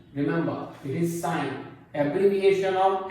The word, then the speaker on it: sine: i n don't say c remember it is sine abbreviation of s i and e that is